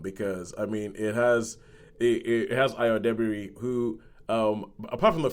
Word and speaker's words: Ayo: And everybody pronounces her name wrong. They keep calling her Ayo. It's Ayo. But yeah.